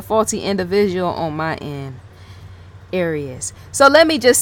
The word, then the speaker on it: Arias: Arias. I always say her name wrong because I'm thinking of Aries. Like being born in April or something like that. But yes, so I'm sensing Arias.